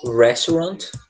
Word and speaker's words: restaurant: Restaurant, tá? E a pronúncia é um pouquinho complicada, tá? Restaurant, tá? É como se a sílaba forte ela é o rest, tá?